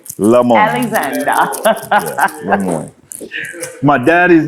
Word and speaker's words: Lemoyne: It's the French in us, y'all know me as Miss Ming, but it is the French in us. Yeah, Lemoyne. Alexander. Yeah, Lemoyne.